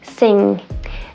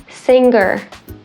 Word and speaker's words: sing: words again sunken sink singer sing so sing is the exception there right that's the only time where you don't really hear the g at all you're holding your tongue